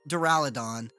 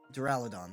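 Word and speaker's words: Duraludon: these Pokemon coming up so next we got duraladon doraladon that is yeah that's how you say it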